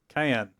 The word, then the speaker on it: Cyan: Oh, Cayenne. Which I'd always been pronouncing his name as Cyan, like the color. Yeah, that's what I've had done too. Yeah, apparently it's Cayenne. It's cayenne, like the pepper.